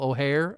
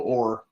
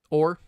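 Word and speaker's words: Oher: I know, Ethan, we were talking about before we went on about the whole Michael O'Hare. I think that's how you pronounce his name. The blind side situation. Yeah, Michael Orr. Orr.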